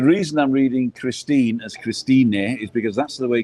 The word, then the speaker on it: Christine: She spells it like the English word Christine, but we pronounce the E in German, in Spanish as well. Yeah. So they pronounce every letter. And so that's why sometimes people write Christine and I say Christine because the E.